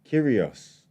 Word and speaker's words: Kyrgios: Kyrgios. What's That the sounds bird? like him. Who said it? It was No, they have the them, G yeah. is silent. The G is silent, like lasagna.